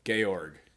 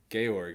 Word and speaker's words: Georg: is his name um oh gayorg gayorg it's it's it's spelled g-e-o-r-g but it's georg von trot i was gonna